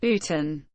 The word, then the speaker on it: Boughton: has now been demolished sportin bolton pronounced Putin is recorded in the